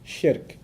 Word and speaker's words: shirk: Sounds like Shrek, so that's easy to remember, right?